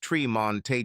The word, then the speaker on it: Tremont: Fremont, pronounced Fremonte, and Tremont, pronounced Tremonte Jones.